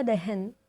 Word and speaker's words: दहन: तो होलिका दहन को मराठी में होलिका दहन कहते हैं। दहन का प्रोनाउंसिएशन मराठी में दहन इस प्रकार से होता है।